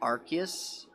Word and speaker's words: Arceus: Because apparently the name Legendary Pokemon this game is after is called Arceus. Even though it's also been pronounced Arceus.